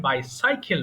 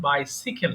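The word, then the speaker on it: bicycle: কিন্তু সঠিক উচ্চারণ বাইসাইকেল কিন্তু ভুল করে বাইসাইকেল বলি আচ্ছা সমস্যা নেই তাহলে স্যার বলো বাবা স্যার তাহলে এমনি সাইকেল বলার সময় সময় কি আমরা সিকিকেলই বলবো না না এমনি সাইকেল বলবা কিন্তু বাই যখন যুক্ত হবে তখন বাই সিকেল হবে এমনি সাইকেল বলবা আচ্ছা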